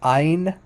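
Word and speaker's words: עין: like a wikipedia um here's the letter i in modern hebrew would just pronounce like ein ein it's not it's there's not it's no guttural it's not guttural at all um so in in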